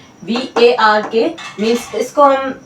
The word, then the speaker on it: VARK: तो इसे हम ऐसे ही प्रोनाउंस कर रहे हैं, VARK।